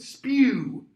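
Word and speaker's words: S.P.E.W.: slavery okay that's why hermione's gonna come up with spew that's how it should be pronounced by the way like okay s-p-e-w society for the protection of elvish welfare you've got a hundred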